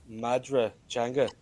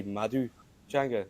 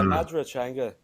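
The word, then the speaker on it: Madra Teanga: Taijan Ifigo, which is the standard dialect, it's Madra Changa, but I speak Ulster Irish, so we would say Madu Changa. That's how you say dog in Irish, in Ulster Irish. But yeah, Madra Changa is how you pronounce it.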